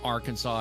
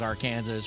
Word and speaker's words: Arkansas: says you can't say you can't mispronounce Arkansas as our Kansas, whatever.